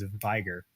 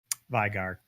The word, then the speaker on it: Veigar: we're seeing a bit of more in Korea's vigor Veigar excuse me now we say his name though